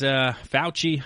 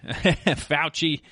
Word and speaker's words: Fauci: Fauci, I believe it is. Fauci. I knew I was going to mispronounce it at some point here.